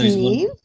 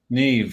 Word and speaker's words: Niamh: That's spelled Nimh. And it's Niamh? Niamh, yeah.